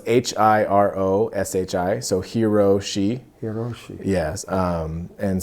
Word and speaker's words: Hiroshi: So it's Hiroshi, so Hiroshi.